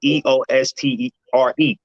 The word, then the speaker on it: Eostre: It's actually spelled Eostre, but it's pronounced the same way as that particular holiday, Easter, right?